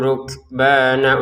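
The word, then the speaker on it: رُكْبَانًا: Kata rukbanan tulisannya nan, tapi kita bacanya na panjang dua harakat. Kenapa? Karena berhenti. Rukbana nanya panjang dua harakat. Ketika disambung maka huruf na ini ya e kembali nan.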